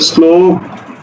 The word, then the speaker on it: শ্লোক: কে ল তাহলে উচ্চারণ হবে কি উচ্চারণ হবে শ্লোক শ্লোক উচ্চারণ হবে দেখো শ্রীগাল তালব্যস এর সাথে কি